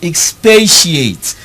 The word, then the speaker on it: expatiate: XP a tea iate not expansion but expatiate let's note that very